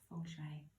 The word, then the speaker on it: Feng Shui: meaning wind and water it was actually spelt Feng Shui but pronounced Fung Shui during this difficult under